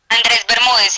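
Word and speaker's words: Andrés Bermúdez: You are stepping up on presenting it with Andreas Bermudez, is it pronounced? Andres Bermudez, yes.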